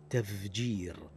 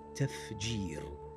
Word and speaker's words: تفجير: كالإنجليزية، وهو صوت ذي، وصفته الصوتية هذه تخالف صوت الفاء المهموس لأنه أي الفي مجهور نحو تفجير استفزاز وفد، فينطقها بعضهم هكذا تفجير استفزاز وفد، والصحيح تفجير استفزاز وفد بإيضاح صوت الفاء وصفته المهموسة وهو أضعف الحروف.